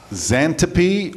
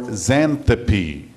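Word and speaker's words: Xanthippe: from table six okay there's two pronunciations here for this word pronunciations i should say should you zantapi or xanthopy name for the wife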